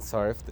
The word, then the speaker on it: surfed: Okay, how we see this day, people don't know how to pronounce surfed, and surfed is pronounced with T because it ends in a soft sound.